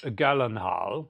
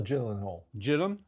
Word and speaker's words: Gyllenhaal: Jake Gyllenhaal. Is that how you say his name? Gyllenhaal? Is it Gyllenhaal or Gyllenhaal?